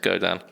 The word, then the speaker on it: Godin: It's spelt Godin, but it's apparently pronounced Godin.